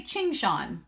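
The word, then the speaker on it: Qingxuan: But Emily M was like, oh, you just say Qing Shan.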